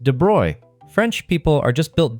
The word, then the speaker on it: de Broglie: In 1924, a French physics student named Louis de Broglie, and yes, it's pronounced "de Broy", French people are just built different, proposed something absolutely unhinged in his doctoral thesis.